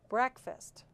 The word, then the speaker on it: breakfast: Breakfast. Where is the schwa? Quick. There it is, the second syllable.